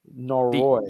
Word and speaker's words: Noroi: Noroi. The syllable is on the latter half of the word.